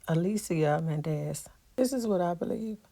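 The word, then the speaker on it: Alicia Menendez: Her name is pronounced Alicia Mendez.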